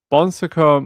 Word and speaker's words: Bon Secours: And apparently it How do you pronounce this? Bon Secours. All right. Bon Secours Mother and Baby Home.